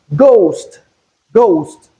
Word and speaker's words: ghost: Then in ghost in place of gh we have the G sound. That is to say that the H in this word is silent.